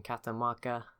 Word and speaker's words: Catamarca: Now it's back in Catamarca, that's how you say it, and Reykjavik, which is at 28 population now.